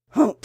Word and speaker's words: Humph: Hump, said the sand fairy. If you read this story aloud, please pronounce hump exactly as it's spelled, for that is how he said it.